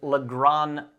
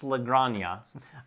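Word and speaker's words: La Granja: that we're at is legrand yeah the god yeah i've done a number of videos where i've pronounced it wrong it's lagrana uh this one is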